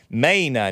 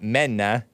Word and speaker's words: Maina: Maina, not Menna. Anchor baby. Maina. You have to say it Australian.